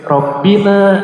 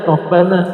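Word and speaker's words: ربنا: Kenapa ini ada yang baca rabbuna mungkin rabbina mungkin rabbuna, ya? Rabbana. Apa sebabnya? Kenapa rabbana? Bapak Ibu ada yang mungkin sudah belajar sebelumnya kenapa Rabbana?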